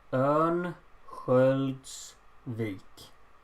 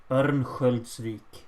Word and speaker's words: Örnsköldsvik: How do you pronounce Örnsköldsvik? Might need it for future reference. Okay, so the first O is an Ö. Ö. So it's Örnsköldsvik.